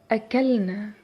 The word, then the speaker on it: أكلنا: In the past tense أكلنا, أكلنا, we add ن to the infinitive أكل. And notice how the pronunciation is different from أكل. أكل, أكلنا.